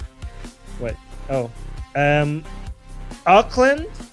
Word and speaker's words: Auckland: Um Auckland. Did I pronounce it right? New Zealand. Auckland. Aland New Zealand. Yeah. Auckland, New Zealand.